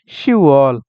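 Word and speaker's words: 시월: আর শিব মানে 10 এই দুইটা ক্ষেত্রে মাস গণনার ক্ষেত্রে নিচের বাচ্চিম দুইটা হয় না ইউকের ইউকের আপনার গিয়কটা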